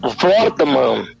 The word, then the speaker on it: Wortmann: Como é que é o temudo, é Wortmann. Wortmann.